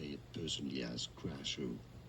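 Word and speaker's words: Krasue: There are different pronunciations depending on the country. Essentially, Kaju is one of them. Some say it but in English it's often pronounced Crazu.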